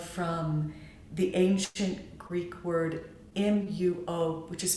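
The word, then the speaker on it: μύω: thought to derive from the ancient greek word m-u-o which is pronounced mu which means to conceal or to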